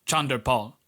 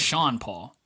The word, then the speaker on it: Sean Paul: Part of the reason that he gained traction in the Caribbean is that the radio host pronounced his name Chandra Paul. It's not. His name is Sean Paul.